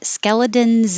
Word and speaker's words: skeletons: And the phrase skeletons in the closet, it's spelled with an S, but it sounds like a Z, so I put a Z here.